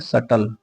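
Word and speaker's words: subtle: सबटल लिखा हुआ बट हम इसको पढ़ते हैं सटल। ठीक है? बी साइलेंट होता है।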